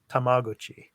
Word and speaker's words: Tamagotchi: It's Tamagotchi. That's how it's pronounced. That's the correct pronunciation out here in Japan.